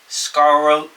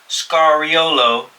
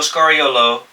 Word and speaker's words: Scariolo: You got Sergio Scaro. I can't even pronounce his last. It's foreign as heck, bro. No disrespect, but dang. Sergio Scariolo. Let me say it a little bit cleaner. Sergio Scariolo, Jordi Fernandez, Darko Rajakovic.